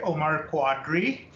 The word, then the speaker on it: Omar Quadri: So since I've been in America, I just say Omar Quadri, but I was born with Omar Qadri.